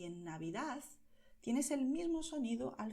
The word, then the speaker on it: Navidad: Por eso mucha gente dirá Navidad. Y en muchas zonas de España la gente pronuncia esta D como Z, ¿vale? Entonces, en feliz y en Navidad tienes el mismo sonido al final.